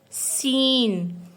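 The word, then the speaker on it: س: Next is seen. In English it has given the sound of S.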